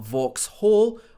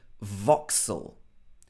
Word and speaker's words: Vauxhall: This is not Vauxhall or Vauxhall. It should be Vauxhall.